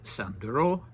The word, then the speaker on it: Sandro: me that that uh Georgian names always put the stress mildly on the last syllable and that you would say he was called Datiko and that you would say Sandro in this instance but I don't know